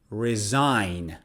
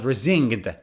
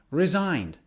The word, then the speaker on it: resign: letter is g and g can be silent in many words for example resign resign which means to quit your job because you don't like it or because it doesn't pay well for example he didn't like his job so he resigned not rezinged no resigned or another one is sign